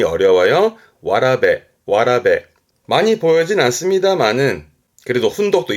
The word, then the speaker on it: 童: 발음이 어려워요. 와라베. 많이 보여진 않습니다만은 그래도 훈독도 있으니까 봐두시고요. 와라베.